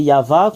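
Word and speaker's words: יהוה: déjà enseigné ceuxa que comment on prononce y c'est yava qu'on le prononce en langue hébreu et nous avons vu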